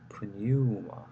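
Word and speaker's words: πνεῦμα: circumflex, pneuma 이런 식으로 발음하시면 됩니다.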